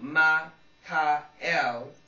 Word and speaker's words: Ma-Ka-El: Michael can now be thought of as simply a generic term for a high-ranking collective angel, but in its proper form of Ma-Ka-El designates the feminine.